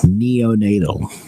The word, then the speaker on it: neonatal: pronounce the word neonatal neonatal okay when you say it slowly the t is going to be very strong but when you say